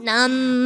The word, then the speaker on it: NAMM: Nam. um over in Anaheim, California. Now, Nam Nam N is a huge event, but to those who are not baref that's California's mark um or unfamiliar, what is NAM?